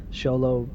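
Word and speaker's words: Xolo: It's spelled with an X. Solo Marin.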